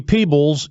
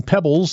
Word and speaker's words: Peebles: Don't call me Peebles, even if it's spelled like that. That's very true. Thank you. Thank you, Dan. All right, that's Pebbles, and he is the Cavaliers court announcer.